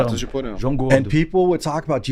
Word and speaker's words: Ratos de Porão: Ratos de Porão. And people would talk about you know this band. I've never heard them because when you say it in Portuguese and the R is silent.